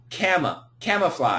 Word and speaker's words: camouflage: What's the American pronunciation? Camouflage. I don't I'm not sure now. It's This is where there's a schwa. Cam camouflage.